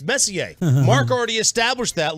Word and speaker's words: Messier: It's like if somebody comes along and says their last name is Messier. No, I'm sorry, it's Messier.